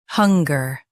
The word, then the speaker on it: hunger: Hunger. Now read the syllables shown on the screen naturally. Hun. Ger. Hunger. Emphasize hun and soften ger.